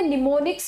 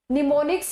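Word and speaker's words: mnemonics: Assembly भाषा होती है, उसमें क्या होते हैं, निमोनिक्स यूज होते हैं, एम साइलेंट है यहाँ पे, निमोनिक्स यूज होते हैं।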